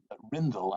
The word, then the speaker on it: Rindel: learned from Svetlana that your name is pronounced Rindel. I'm sorry, I was about to pronounce it if the E was sounded, so forgive me.